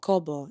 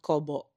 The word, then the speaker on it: Kobo: And we just want to give a huge shout out to Aya from Balay Kobo. Yes. Is that how you say it? Kobo. Kobo. Yes, it's not Kobo. It's Kobo.